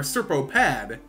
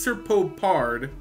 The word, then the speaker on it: Serpopard: MTG that this name is kind of tricky pronounced I want to say prowling serpopard or serop Pad but it's it is serpopard which is correct uh cool creature uh can't